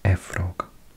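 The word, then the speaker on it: Efrog: that in Welsh it's a frog with the one F which is like a v a frog near with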